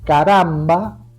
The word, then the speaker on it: caramba: o vocal por ejemplo Caramba tiene acento en la penúltima a es grave pero